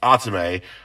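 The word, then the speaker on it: Athame: is spelled a t h a m e pronounced atsume uh so that's you know a little clarification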